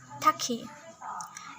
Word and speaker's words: tachy: Tulisannya tachi. Tapi membacanya taki.